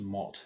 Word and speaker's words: mart: Two of the most important words are mart and morg. Mart is actually pronounced mot in giant.